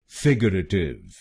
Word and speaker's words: figurative: और इस शब्द में आपको पहले शब्दांश पर यानी FIG पर जोर डालना है। फिगरेटिव, फिगरेटिव। गलत प्रोनाउंसिएशन में हम RA अक्षरों पे जोर डालते हैं। फिगरेटिव। तो इस शब्द को फिगरेटिव नहीं बोलिए, इसको बोलिए फिगरेटिव, फिगरेटिव।